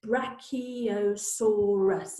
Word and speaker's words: Brachiosaurus: its back legs how do you say it Brachiosaurus and it's really useful when they have these